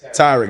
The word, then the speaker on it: Tyrick: Tariq, is it Tariq? Tyrick, that's how you pronounce it.